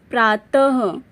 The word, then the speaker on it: प्रातः: बताया गया है कि किसी व्यंजन के बाद यदि विसर्ग लगा हो तो उसका उच्चारण अह की तरह होता है विसर्ग का प्रयोग केवल